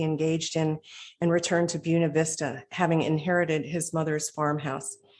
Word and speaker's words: Buena Vista: Eddie Owens Martin was born on July 4th, 1908 in Glen Alta, Georgia, near Buena Vista, and that's the way they pronounce it, where he eventually built his colorful kingdom.